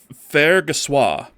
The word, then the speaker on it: Fargassier: So, I'm assuming it's French and it's pronounced Fargassier. Is that correct?